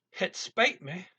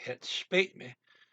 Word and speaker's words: het spijt me: Down in Belgium, you say het spijt me. Try that again. Het spijt me. That's better. Het spijt me. Here, what we're going to use is Northern Netherlands pronunciation.